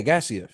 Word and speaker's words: Gaziev: Yeah, it's got is yeah, Gaziev.